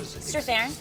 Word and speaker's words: Strathairn: Strathairn.